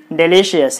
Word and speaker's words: delicious: So you put the stress mark on L-I. So delicious.